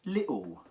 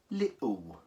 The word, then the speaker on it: little: the cockney accent says little right so the T is actually a god--all okay you don't actually pronounce the T it goes lit okay and then the L becomes a W sound little yeah so you can